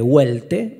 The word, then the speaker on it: Welte: Welte se escribe con W, Welte.